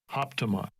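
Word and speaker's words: ἅπτομαι: And this is the pronunciation. Strong's G 680, hoptomai.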